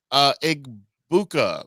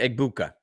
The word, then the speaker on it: Egbuka: Drake London, Justin Jefferson, Igbuka from the rookie from Tampa. I can't say his name right. Emeka Egbuka. There you go.